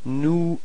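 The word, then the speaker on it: nous: Final s is not pronounced new.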